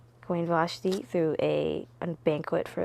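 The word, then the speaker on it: Vashti: um and his queen queen vashi is how you pronounce it Queen vashi threw a a banquet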